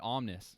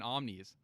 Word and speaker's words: Omnes: And then he said Omnis. So I'm like, oh fuck. And I was already saying Omnes. So I was like, oh shit, I've been saying it wrong the whole time.